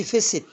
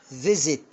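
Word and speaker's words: visit: يزور ما بقولش فيست، فيزيت، عشان وقع ما بين الاي والاي، والاي ده حرف ايه؟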